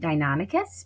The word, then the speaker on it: Deinonychus: But I will be saying it Deinonychus because that is the correct way to say it.